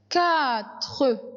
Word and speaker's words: quatre: Quatre. J'ai mis Q. Et la même chose les enfants. Le U ne se prononce pas. On prononce directement la voyelle qui vient après.